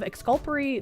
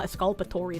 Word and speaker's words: exculpatory: Escul esculper, right? Is that how I pronounce it? The following is material to the inception of the plea. I What the is that word? I count councils council's failure to inform petitioner of exculpatory discovery. Ah, exculpatory. There we go. I I up the pronunciation.